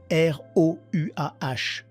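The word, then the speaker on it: רוח: Et c'est important car le mot utilisé est rouah, r o u a h. Le h en hébreu se prononce comme une jota aspirée, rouah, qui signifie esprit.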